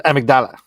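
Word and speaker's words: amygdala: there it is the the amigdala as properly pronounced the amigdala like Kamala versus Kamala that's all the politics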